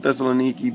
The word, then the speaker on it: Thessaloniki: Yeah, I'm from Thessaloniki, but the suburbs.